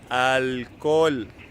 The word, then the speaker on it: alcohol: Attention with the pronunciation: alcohol.